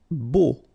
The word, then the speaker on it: beau: Beau. Okay, so remember we've got this strange combination of vowels. A, U, so 3 vowels, but then phonetically it's only O. Okay, so beau.